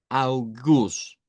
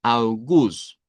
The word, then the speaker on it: August: Augus, así lo vamos a pronunciar en idioma duch. Augus.